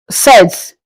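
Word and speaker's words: sept: Seven is pronounced in French as sets. As I said, you don't pronounce the P.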